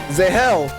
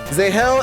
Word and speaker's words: Zahel: Z without the D and then hell. Z hell would be phonetically Zel like Superman is. Callel, you're Zahel.